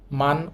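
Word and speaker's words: 많: দেখেন একটা হিউত আছে আমরা একটু আগেই দেখেছি হেউত নিচে থাকলে উচ্চারিত হবে না এখানে যেহেতু হিউতটা নিচে আছে সুতরাং এটা বাদ দিতে হবে এই শব্দটার উচ্চারণ হবে মান অর্থ বেশি পরবর্তী উদাহরণ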